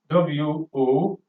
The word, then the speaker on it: womb: Another word in this category is WOMB, which is to be pronounced as womb. Womb. The B, letter B in this word is silent.